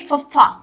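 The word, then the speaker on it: ਫ਼: ठीक है, अब हम कहेंगे फफ्फा, फफ्फा पैर बिंदी PHA फफ्फा।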